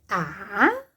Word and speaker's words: asa: A-za. Pronuncio também da mesma forma com o som do Z, mas na hora de escrever utilizo a regra.